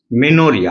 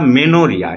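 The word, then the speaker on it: menorrhea: discharge মেনো means menstruation মেনোরিয়া উচ্চারণটা মেনোরিয়া এম ই এন ও অনেকে মিনোরিয়া বলে বা মিনস বলে মেনস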